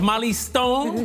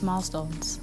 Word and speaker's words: Milestones: Asanda Mali, founder of Mali Stone. Welcome to Weekend Edition. Hello, it's Milestones. Milestones. Did I say Mali Stones? It has milestones. It's Milestones. You don't mention the I.